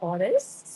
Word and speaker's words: Awenessly: Last year, I founded Honest, spelled as you can see, Awenessly. And it's pronounced exactly as honest.